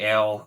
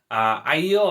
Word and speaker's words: Aiel: So the first big one is Aiel, because I say ale. I'm always going to say ale. Aiel I can kind of see, but I feel like that's just complicating it.